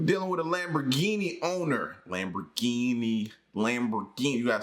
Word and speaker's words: Lamborghini: Lamborghini.